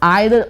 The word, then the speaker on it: either: Important है, that is आइदर और, नाइदर नॉर। नाइदर नॉर का एक और प्रोनाउंसिएशन है नीदर नॉर और ईदर और। तो ये दोनों ही प्रोनाउंसिएशन, दोनों ही बोलने का तरीका बिल्कुल सही है।